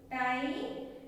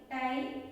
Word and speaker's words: tie: Okay, in IE as a long I sound, say the sound of the letter I by its name. The E is silent.